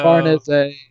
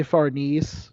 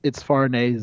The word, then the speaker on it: Farnese: Farnese. Yeah, that's how you're actually supposed to pronounce her name. I know. I want to say Farnese, but it's Farnese.